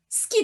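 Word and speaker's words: 好き: But in certain words, the su becomes s. Think about this. So far, we have pronounced it as this, not desu, right? Another word is ski desu, ski desu, ski desu.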